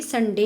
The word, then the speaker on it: sundae: ठीक है, तो उनसे जो भी आइटम बनता है तो उसे SUNDAE कहते हैं और इसका प्रोनाउंसिएशन भी संडे ही होता है।